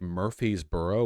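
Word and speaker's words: Murfreesboro: in murb congratulations everyone they all pronounce it like Murphy's burrow one word Murphy's Burrow that's insane where's the r go okay whatever city leaders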